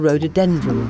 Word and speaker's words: rhododendron: "Follows me," said Big Fat Bee, and led Raj towards the rhododendron bush.